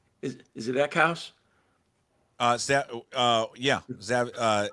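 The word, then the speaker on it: Eckhaus: Is it Eckhouse? Zev Eckhouse.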